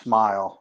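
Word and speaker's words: Smael: Mondin, it's pronounced Smile.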